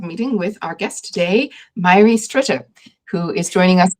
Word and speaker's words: Mháire: If you're seeing that name, you can say Mháire, like Miley Cyrus, but if you had like a speech impediment where you said Mháire instead.